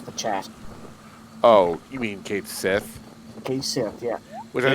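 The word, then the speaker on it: Cait Sith: Oh, you mean Kate Sith? Okay, Sith, yeah. Which I Hey, think, Sith. if they were using the correct Gaelic, would be like Kadshi or something like that.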